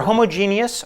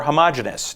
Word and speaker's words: homogeneous: A problem, and I've discovered that there are regions of the country where the pronunciation of this varies. It's either homogeneous or homogeneous, depending on where you're from.